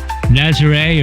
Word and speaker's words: Nazaré: We're in Nazare or Nazar. Uh different people pronounce it different ways.